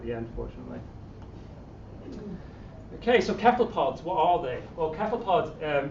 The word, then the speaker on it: cephalopod: Joking aside, it's actually a Greek word, so my understanding is, and my feeling is, that if it's a Greek word, you should say it like the Greeks say it, and they say cephalopod.